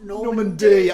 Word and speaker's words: Norman B: It's spelled Norman B, but it's pronounced Normandy.